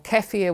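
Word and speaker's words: kefir: and those good prebiotics so plain yogurt or kefia which is actually a Bulan drink that has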